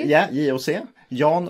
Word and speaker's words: JOC: Yeah, JOC.